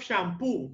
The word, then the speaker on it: shampoo: a of shampoo of shampo acento la tima sílaba de la palabra of shampo obviamente ahí se ve